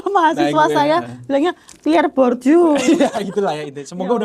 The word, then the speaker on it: Bourdieu: Yang pertama Pierre Bourdieu, benar-benar belum bacanya ya. Itulah ya, Pierre Bourdieu itu loh. Bourdieu. Itu kalau mahasiswa Nah, saya bilangnya Pierre Bourdieu.